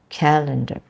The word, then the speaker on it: calendar: Because it's calendar, the stress is in the second part of that word or the second syllable, calendar, rather than calendar.